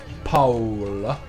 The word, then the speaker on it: Paola: more storyline so we're going to return to paola and that's how you pronounce it and hopefully we'll get to see